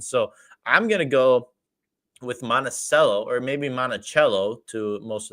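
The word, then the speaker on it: Monticello: two argal number nine monacello Grazy so people that are outside of Wisconsin always seem to pronounce monacello as monachello because that's what the monument is called and I think that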